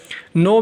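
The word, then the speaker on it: know: नो में के silent है और गेस्ट में यू साइलेंट है।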